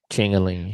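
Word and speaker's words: Ciancaglini: and the othering uh how do you pronounce that last name Jeff I don't want to Tor chalini chalini okay the other chalini brother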